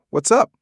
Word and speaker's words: what's up: In rapid speech, the T in what's often gets dropped and it links to up. It can sound like what's up.